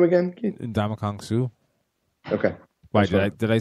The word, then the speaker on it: Ndamukong Suh: No, it just, that first one sounded a little funky. Did it sound like I said Donkey Kong Suh? Yes, it did sound like you said Donkey Kong Suh.